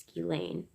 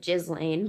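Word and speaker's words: Ghislaine: edge co-conspirator d'Alene Maxwell I think it's pronounced ski Lane looks like jizz Lane but it pretty shirt ski lane Maxwell who was accused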